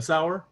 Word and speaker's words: Sauer: other day totally trivial your last name is pronounced sour right yeah like the kraut yup okay that's i